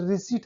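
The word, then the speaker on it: receipt: Raspberry, रिसीट, अक्सर हम तो रिसिप्ट ही बोल देते हैं, ज्यादातर लोग बोलते ही हैं, ओनली जब हम रियल में देखा तो रिसीट है वो, रिसीट।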